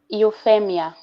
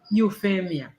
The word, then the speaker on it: Euphemia: really do appreciate um euphemia thank you so much i hope i'm pronouncing your name correctly how do you pronounce it euphemia euphemia so you feel me i'll give you a